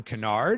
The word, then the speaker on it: Kennard: Hey everybody, Jeff Cohen back with Kennard. Did I pronounce that right?